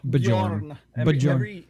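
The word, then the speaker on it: Björn: Bjorn. Every J is a Y. Just pronounce it like that.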